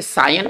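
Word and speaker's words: scion: हमारा next word है सायन, इसको कहेंगे, इसको पढ़ेंगे, सायन उच्चारण करेंगे।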